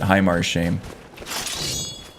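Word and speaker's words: Haemar's Shame: vampires and all that heymar's shame maybe i think barbis pronounce it pronounces it highmar shame okay as a spell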